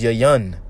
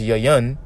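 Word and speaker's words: יין: wine real quick here wine in the hebrew is yayan that's how you say wine in the hebrew is yayan and when you get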